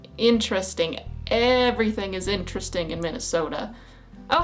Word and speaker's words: Minnesota: pronounced AUM not autum T's tend to turn into D's here Minnesota it has a t a at the end but we still say Minnesota uh not Minnesota it's Minnesota not Minnesota we always